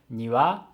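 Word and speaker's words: 庭: terms of syllables but depending on the pitch it means different things for example if you say nua it means garden but if you say niwa it means something like two birds so depending on the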